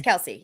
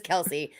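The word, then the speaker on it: Kelce: off season when travis kelsey was like my last name's actually pronounced kels and the entire football world just said nope you took too long we're still calling you cassie kelsey you can't you can't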